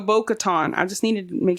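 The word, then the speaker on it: Bo-Katan: know so I'm like am I saying it wrong Katon Kat yes you were Kat Katon yeah baton so Bo Katon I just needed to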